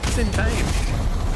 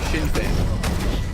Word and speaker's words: Sinn Féin: The reason why I had no idea what you were saying is because how do you pronounce that? Sinn Féin. Sinn Féin.